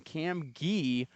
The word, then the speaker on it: Cam Gee: It's Cam G, and he made it well aware that that's how we have to pronounce it.